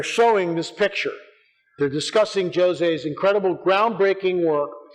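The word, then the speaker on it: José: So they got Fina de Armada and Jose Machado, in Portuguese it's Jose, it's not Jose, it's Jose, that's how it's pronounced.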